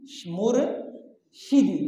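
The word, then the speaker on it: مرشدی: मुर्शिदी, शीन के नीचे क्या है जी? ज़ेर।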